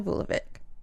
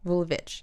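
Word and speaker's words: Vulović: life forever 22-year-old Vesna volvic vulich sorry damn it it's spelled with a c so I want to say Vic but it's vit it's okay we're here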